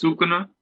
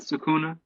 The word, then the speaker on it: Sukuna: It's Sukuna. That's how you say it. I think so. Not Sukuna. I think either way is fine. I think Sukuna makes more sense.